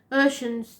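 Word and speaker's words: Oshun: that had it um Ocean's not spelled like I it's o h u n she is the African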